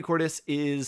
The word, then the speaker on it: Cordes: Bethany Cordes rhymes with tortoise, has worked with me for pretty much my entire creative career.